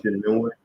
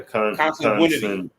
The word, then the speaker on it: consanguinity: consanguinity, Congenuity, yeah, consanguinity. consanguinity. Yeah, That's how you pronounce it.